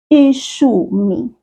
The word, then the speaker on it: ishumi: Ishumi. That SH sound is pronounced exactly like it is in English. Think of the word shoe. Shoe. Ishumi.